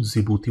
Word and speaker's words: जिबूती: जिबूती Ethiopia and Somalia इसको जिबूती बोलते हैं डी साइलेंट है इसमें ये आप याद